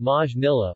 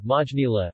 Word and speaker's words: Maynilà: Manila, Filipino, Maynila, pronounced Majnila or Majnila, officially the city of Manila, Filipino, Lungsod ng Maynila, Lu Sod ng Majnila, is the capital of the Philippines.